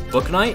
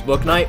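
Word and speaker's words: Bouknight: be one of the younger guys maybe it's book night maybe yeah okay two guests is not bad the first time i ever heard about james book night was in a click productions video i didn't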